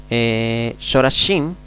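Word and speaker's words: שורשים: En la palabra Shorashim, Shorashim, aquí debajo de la Shin tenemos una O, Shorashim y Kodashim.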